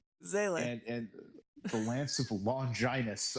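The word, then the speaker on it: Seele: I had with the dub was how they pronounce Zale. Zele? Like you get Zale. I was like, stop it! You stop it right now. It's pronounced Sele. Zele.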